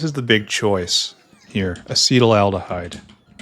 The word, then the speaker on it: acetaldehyde: And we need acetaldehyde. And acetaldehyde right here. Acetaldehyde? It's not acetaldehyde. It's acetaldehyde. Acetaldehyde. Acetaldehyde. I was pronouncing it wrong.